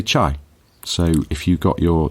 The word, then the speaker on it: chai: would leave from uh they use the pronunciation t whereas Mandarin Inland they say chai so if you've got